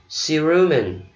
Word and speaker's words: cerumen: Chữ tiếp theo mình đọc là cerumen. Cerumen, nhấn âm giữa ha. Cerumen. C ở đầu mình đọc là C.